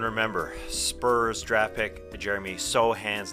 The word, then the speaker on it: Sochan: joining us and remember Spurs Draft pick Jeremy sohan's name is pronounced Sohan I did say sochan yeah it's a Polish American name I knew